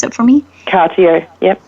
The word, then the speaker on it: Cartier: Can you pronounce it for me? Cartier, yep, correct. Cartier, thank you, Publishing.